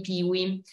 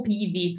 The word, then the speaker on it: PIWI: per parlare dei vitigni piwi Allora è o Pivi Forse è meglio pronunciarlo con la W alla tedesca Perché tra l'altro altro Pivi è proprio un acronimo tedesco Che